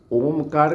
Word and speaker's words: ओम: अभ्यास हो जाएगा ना तो ओ छोटा रहेगा और ये मंठ बंद रहेगा।